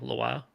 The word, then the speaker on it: Lwa: It looks like it's spelled IWA, Iowa, Awa, but Iowa. it's not pronounced that way at Sure, it all. wasn't Iowa? LWA, Loa.